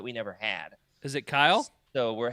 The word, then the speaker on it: Kyle: To the rest of the English-speaking world, it is one syllable.